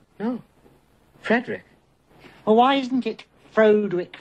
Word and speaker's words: Frederick: No, it's pronounced Frankenstein. Do you also say Froderick? No, Frederick.